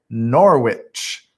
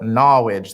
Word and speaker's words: Norwich: in southeastern connecticut in a place called norwich some call it knowledge there's like this accent in this city and that's how they say it norwich connecticut uh it's